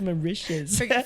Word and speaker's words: Mauritius: you say that country mauritius mauritius i think it's so delicious it is mauritius that's funny that'd be